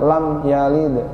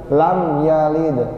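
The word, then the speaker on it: لم يلد: Nah, jelas, jangan lam yalid. Mana? Putus jadinya. Makanya kalau nggak dikasih ruhnya huruf itu kita bakalan putus bacanya Pak. Lam yalid, lam yalid. Itu putus Pak. Yang benar lam yalid.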